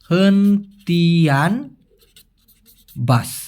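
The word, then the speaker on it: hentian bas: হেনতিয়ান বাস, উচ্চারণটা হবে হেনতিয়ান বাস।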